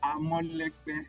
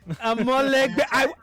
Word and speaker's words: Amolegbe: The pronunciation is Amolegbe. Amolegbe.